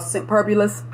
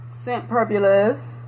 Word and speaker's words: Scentperbulous: You know, I didn't know the name of her shop last time, on the last video, but it's actually called Scentpurbulous.